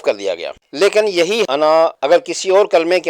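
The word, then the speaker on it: أنا: پر وقف نہیں ہوتا، اس لیے اس کا الف نہیں پڑھیں گے اور تلفظ ہوگا انا۔ اور اگر کسی وجہ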